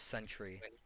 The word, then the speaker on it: Sentry: Kent my name is Sentry online I just abbreviated to scent I don't know PE I don't know why people always struggle to pronounce it it's just the term Century with another why century is in 100 years